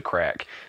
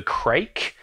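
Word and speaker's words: Craic: There's a Scottish bar in Christchurch called the Crack that everyone calls the Crake because that's how it's spelled, and everyone in this town is dumb. And yeah, it's just everyone calls it that, even though that's completely wrong.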